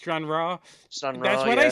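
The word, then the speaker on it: Stranraer: strand rear versus Celtic strand rear actually it's it's pronounced strandra that's what I said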